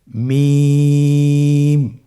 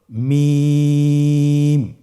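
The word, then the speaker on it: ميم: মিম হরফটি উচ্চারণের ক্ষেত্রে অবশ্যই বারিক হবে, পাতলা হবে এবং তিন আলিফ টেনে উচ্চারণ করতে হবে। আমার সাথে আরেকবার চেষ্টা করুন। মিম। আবার বলুন মিম।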